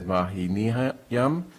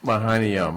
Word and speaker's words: Mahaniyam: Also, application for a new common victualler for Fat Duck LLC, doing business as Mahiniyam. You're going to have to help us with that pronunciation. Mahaniom. Mahaniyam, okay, Mahaniyam.